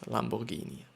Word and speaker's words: Lamborghini: driving with our Lamborghini Lamborghini which is out actually I think pronounced like this Lamborghini and so we are